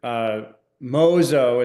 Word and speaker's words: 妄想: In fact, it's to the point that I brought up this word, mōsō is how you say it in Japanese.